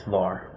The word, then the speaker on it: VAR: Reactive power, we call it VA reactive, volt amp reactive, or we just pronounce it as VAR.